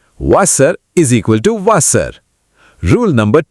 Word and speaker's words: Wasser: Rule number 1. W is equal to V. Wasser is equal to Wasser.